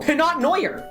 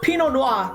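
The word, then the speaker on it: Pinot Noir: what kind uh so I think I'm pronouncing this correctly you don't need to in fact oh Pat noer I had that last time yeah pat noer p it's not Pinon NOA like all the wine enthusiasts say it's pinat noer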